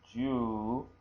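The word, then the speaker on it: 柔: Chinese derived pronunciation of the word Ju, or New, but in our case G-U. That's she with the two tick marks. Shi-yu, that's you in katakana. Ju, that's the pronunciation.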